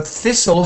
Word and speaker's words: thistle: than theirs yeah that's so thistle has no T sound and smoother has ooh